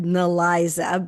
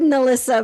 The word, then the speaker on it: Nelissa: Yeah, it looks like it's said Neliza, but it's said Melissa, but it's spelled like Nel.